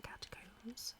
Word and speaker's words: catacombs: I assume it's in the catacombs. Cat. Which one do I use? Catacombs. It rhymes with tombs.